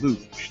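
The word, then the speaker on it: Looj: this time the irobot luge they spell it l-o-o-j it's not an olympic event we didn't want all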